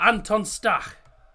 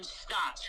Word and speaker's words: Stach: I've always called him Statch because it reminds me Statch. of Moustache.